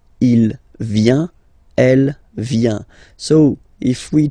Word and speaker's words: vient: Il, elle, vient. Final T not pronounced. Il vient, elle vient.